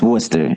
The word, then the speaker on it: Worcester: How do you pronounce it? Yeah, it's Worcester.